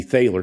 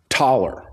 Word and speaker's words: Thaler: it used to be thaler because that's how it's pronounced that's that's how it's spelled but it's pronounced taller and so if you